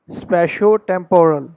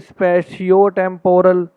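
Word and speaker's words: spatiotemporal: तो ये है, हम इसको स्पेशो टेम्पोरल हम इसको बोलते हैं, करेक्ट प्रोनाउंसिएशन। हम अब इसको अगर बोलेंगे स्पेशियो टेम्पोरल तो ये एक रॉन्ग प्रोनाउंसिएशन है।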